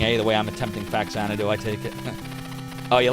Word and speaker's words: Faxanadu: trying to derust in Faxanadu. Not Faxanadu, but Faxanadu, because that's how I've always said it. Even though I know that's not the correct pronunciation.